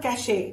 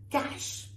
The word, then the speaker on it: cache: It's not cachet, which has a different meaning. Cash.